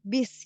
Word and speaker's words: bus: Nah, kalau mungkin yang bus ya, bus itu tulisannya sama ya, BUS bahasa Inggris, tapi pengucapannya itu beda ya, bis gitu ya kalau di bahasa Indonesia.